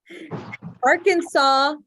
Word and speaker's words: Arkansas: Arkansas, and they have S's at the end that we don't pronounce it.